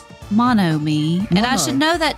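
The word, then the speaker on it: Monomi: I always want to say manomi I don't know mono me and I should know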